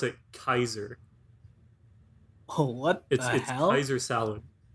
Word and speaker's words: Caesar: latin is you um pronounce a c with like a k sound oh and the a e is like an i so like you pronounce it kaiser oh what salad sounds